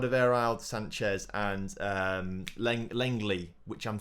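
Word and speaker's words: Lenglet: i've said that wrong it's not langlets basically i think it's langley people comment section told me i'll get right at some point but langley i think is how you say his name but there are three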